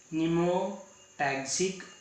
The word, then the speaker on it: pneumotaxic: आधी इथं स्पेलिंग काय आहे? PNEUMOTAXIC. आता त्याचा उच्चार असा पीचा ग्राह्य धरायचं नाही. या ठिकाणी पी जो आहे ना दॅट इज द सायलेंट आणि म्हणून याचा उच्चार कसा असतो? न्यूमोटॅक्सिक सेंटर.